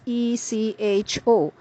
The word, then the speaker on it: echo: information about something it's pronounced as archive the pronunciation of the word spelled e c h o in British English is Echo it refers to